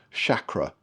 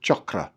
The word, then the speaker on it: chakra: And chakra means wheel. It's pronounced, by the way, like chocolate, chakra, not shakra. Shakra, as in sugar, is a kind of very Western pronunciation, but the word is chakra, as in chocolate.